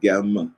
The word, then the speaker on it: gm: The black ibis bird is transliterated with the letters GM and pronounced as best you can, because they also say there's no vowels indicated in the language, so it could be gem, gem, gum. I'll say gem, so we kind of